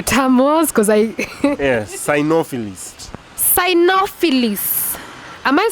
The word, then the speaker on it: cynophilist: me what the term was because i yeah synophilis psyonophilis am i saying it right it's a nophilist okay a definition definition is a dog enthusiast someone who really loves dogs that's a sinophilist of which i am an ex i use